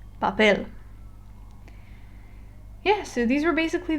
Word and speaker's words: papel: look at the word it has no Tilla and it ends with an L that means I stress the last syllable papel yeah so these were